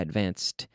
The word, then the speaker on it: advanced: I advanced yesterday I advanced IDI but no extra syllable advanced not advanced 'add yes or no advanced